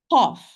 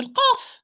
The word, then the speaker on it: ق: Now we are going to talk about letter qaf. What are the common mistakes? Okay. Number 1, qaf. We said qaf and kaf. They are pronounced from the back of the tongue.